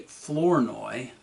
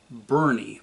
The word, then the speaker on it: Flournoy: The Herald noted that 2 of the bandits, Lee Flournoy, that's F-L-O-U-R-N-O-Y, not Burney, B-U-R-N-E-Y, and Charles Mays, Mays